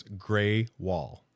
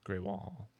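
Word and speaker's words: Grewal: was the AI thing it does say gry wall I I don't trust it until somebody that owns it or somebody that downtown Lancing website says grall Hall 224 pronounce grey wall grey wall that was from downtown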